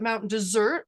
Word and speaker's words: Mount Desert: Locals, it's spelled desert. Locals like to call it Mount Dessert, like pie, like the dessert that you would eat after dinner or maybe even for breakfast.